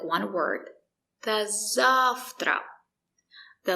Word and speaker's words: До завтра: The letter V is pronounced as f. There's no voice. Встречи. До встречи. До встречи. До встречи. До завтра.